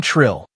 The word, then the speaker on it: Trill: Hello, I'm Trill. The Floraxian's voice had a melodic quality like wind through chimes. It's pronounced with a trill at the end, which is also conveniently my name.